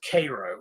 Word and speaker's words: Cairo: But right there where that is a place called, I think they pronounce it Cairo. It's spelled like Cairo, Egypt.